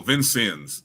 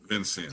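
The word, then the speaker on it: Vincennes: Yeah, he spent one year one year at um I don't know how you pronounced that. Vinez University in Indiana. Oh, Vincens. Vincens. Vincens.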